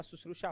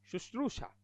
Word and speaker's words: शुश्रूषा: और बोल रहा हूं शुश्रूषा सेवा सुश्रुषा होती है शुश्रूषा लिखो शुश्रूषा आशीष आशीष आमिश आमिश